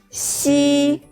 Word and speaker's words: xi: Pay attention, the shape of your mouth is like a smile. Ji, qi, xi.